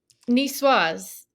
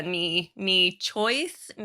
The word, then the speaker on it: Niçoise: whole reel on this, me trying to pronounce it, because of course I just went with the knee choice, like it's always because I think in Turkish that kind of C is like a ch, so I always go into that.